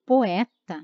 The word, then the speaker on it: poeta: preciso cuidar na escrita porque poeta é o é pronunciado né com uma vogal aberta por é tá planeta nós temos o e fechado mas ainda assim é